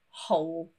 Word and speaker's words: whole: Actually, with WH words followed by an O, the W is silent, and it's that H that we can hear instead. For example, who and whole.